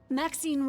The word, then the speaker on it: Maxine: me most exquisite varieties Maxine rhymes with Queen after all and dearest